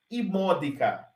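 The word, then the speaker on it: immodica: texto de Seneca também perceba que a gente tem uma breve se tem uma breve acentuação estará na antepenúltima sílaba e módica iracreat insanian de novo e módica Irati o que que é imódica e módica é um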